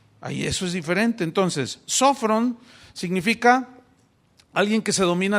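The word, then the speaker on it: σώφρων: Esta palabra se tradujo del griego sofrón, tiene acento en la primera O, sofrón.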